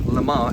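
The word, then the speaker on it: Le Mans: Pontiac Lans LeMans or Lama as it would be pronounced in French is a city in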